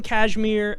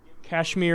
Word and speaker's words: Kashmir: you see we have kashmir and jammu forgive me for pronouncing these like a white boy um I think it's called Kashmir like the cloth the wire you do